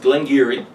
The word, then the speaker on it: Glengarry: It reads like Glen Garioch, but no, it's pronounced Glengarry.